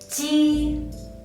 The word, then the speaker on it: j: First one is Ji, Ji. When you pronounce this sound, the first thing you need to do is raising the front part of your tongue and touch the front part of the hard palate. And then let the tongue tip touch the back part of your lower teeth.